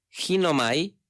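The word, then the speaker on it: γίνομαι: la palabra griega es ginomai, con G y acento en la primera I, ginomai, y esto es hacer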